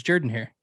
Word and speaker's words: Jordan-Hare: It's pronounced Jordan-Hare Stadium, first of all. It's Jordan-Hare. Yeah, it is.